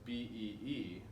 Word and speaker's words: Bea: Now, bee as the insect is spelled B-E-E, but her name is B-E-A. But it sounds the same, bee and bee.